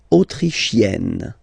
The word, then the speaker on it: autrichienne: L'Autriche, autrichien, autrichienne. So same thing here. You get and then double N, you open the autrichienne.